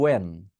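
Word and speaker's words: when: আমি বলবো ওয়েন। আমি কিন্তু হোয়েন বলবো না, কি বলবো?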